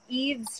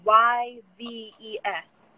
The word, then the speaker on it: Yves: His name is Yves Tumor, Y-V-E-S. Oh, Yves. Yeah. Oh, like Saint Laurent Yves.